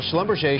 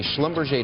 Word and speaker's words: Schlumberger: the wedding of a schlumberger daughter i didn't realize that was how you pronounce it I thought it was schlumberger and when I showed